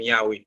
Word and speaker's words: Yahweh: D'ailleurs, il était même utilisé un tétragramme qui était YHWH, qui était prononcé comme Yahweh, parce que juif il